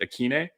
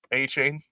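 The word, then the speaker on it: Achane: of that uh Devin uh how do you pronounce it akine a chain ah not not close but uh a a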